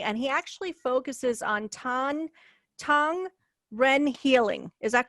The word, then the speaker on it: Tong Ren: And he actually focuses on Tong Ren healing. Is that correct? Did I pronounce it right? Yes, Tong Ren healing.